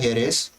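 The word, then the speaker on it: heiress: Hair का होता है हेयरेस। इसे हेयर नहीं पढ़ते, इसे एयर पढ़ते हैं, ठीक है, हेयर नहीं।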